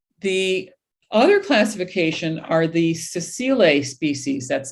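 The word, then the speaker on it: sessile: three and trillium the other classification are the cecile species that's spelled s-e-s-s-i-l-e excuse me this is a yellow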